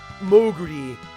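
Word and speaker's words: モーグリ: The Japanese words for bat and mole combine to form the portmanteau that is Moogle, or Moguri, as it's pronounced in Japanese.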